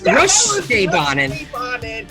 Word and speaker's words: Rutschebanen: It's Rutschebanen.